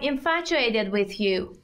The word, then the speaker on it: infatuated: I'm infatuated with you. من شیفتتم. اینو باید اینطوری تلفظ کنید. Infatuated. استرس میره روی سیلاب دوم.